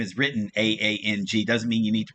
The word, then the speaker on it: Aang: m night shyamalan okay it's not ong it's aang it does a and